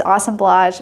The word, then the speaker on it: assemblage: um and it's spelled assemblage but the correct pronunciation is awesome blage Michael you always make fun of me for